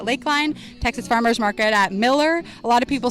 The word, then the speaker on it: Mueller: Texas Farmers Market at Miller. A lot of people spell it or pronounce it as Mueller, but it's actually pronounced Miller, but it's spelled Mueller.